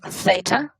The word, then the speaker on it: theta: That's just a Greek letter that is pronounced theta.